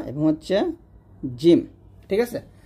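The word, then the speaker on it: جيم: মত হবে না অথবা জিমের মত হবে না। এটা বলতে হবে জ এরকম। আর জিমটা কিন্তু কোন দাতেই লাগবে না। জিমের মাখা জিহ্বার মধ্যখান উপর তালের সঙ্গে লাগবে। জিম।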